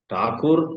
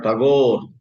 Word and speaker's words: Tagore: Whether you say Ravindra or Robindra, both are right. Ravindra, Robindra, Thakur or Tagore, both are right.